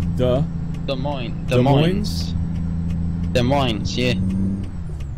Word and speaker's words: Des Moines: The Des in Des Moines is pronounced the. The. Des Moines.